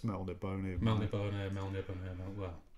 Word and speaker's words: Melniboné: Apparently, Melniboné is the correct way of Yeah, pronouncing it.